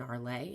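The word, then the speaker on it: Arles: bedroom in arleigh and it's a-r-l-e-s as you see at the bottom of my phone it's a town in france so that's why it's it's spelled kind of differently than it sounds because it's french so you'll see there's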